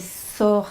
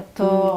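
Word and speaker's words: Þór: Normalement c'est Sor, c'est pas Thor.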